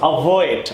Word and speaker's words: avoid: সো অ্যাভয়েড, আগে উচ্চারণটা ঠিক করি, অ্যাভয়েড না অ্যাভয়েড। অ্যাভয়েড, আমার অ্যাকসেন্ট ক্লাসটা করলে আপনি অবশ্যই জানেন ভি সাউন্ড করার সময়, এফ সাউন্ড করার সময় দাঁতটা ঠোঁট দিয়ে করতে হবে।